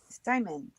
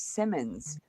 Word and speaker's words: Simon: There's one M. It's Simon. Simon. I didn't spell it wrong, did I? No. But they're even adding an S, Simmons. I'm like, it's just simply Simon.